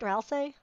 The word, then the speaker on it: Ralsei: Oh, does that heal, does that heal, okay, it does heal Resselia up. Ralsei. I should probably actually say her name, say his name right, Ralsei.